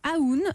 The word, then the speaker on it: AÚN: Alors vous êtes la fondatrice de Aoun. Aoun, ça s'écrit A-U-N. U accent aigu. U accent aigu N, Aoun Paris.